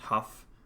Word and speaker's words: Hugh: Now, I think me and Hugh, actually, side note, apparently his name is pronounced Huff, and I didn't know that.